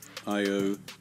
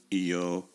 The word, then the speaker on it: Io: And then in English, the long vowel shift has made Plato, Plato, and Io, Io. Because English is in the Latin tradition, I will be pronouncing names in the English Latin tradition.